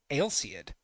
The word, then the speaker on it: Ailseid: Ailseid? Is that how it's pronounced? Okay, Ailseid. All right, I'll pronounce it like that way from now on.